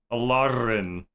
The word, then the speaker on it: Elaryn: Is that how it pronounce? Alaren. Alaren.